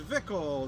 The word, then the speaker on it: Zwickel: to cry goodbye man uh pronounced vickel the flagship logger of